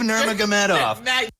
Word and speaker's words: Nurmagomedov: First of all, I'm very impressed with the repeated correct pronunciation of Nurmagomedov. Khabib Nurmagomedov. Khabib Nurmagomedov.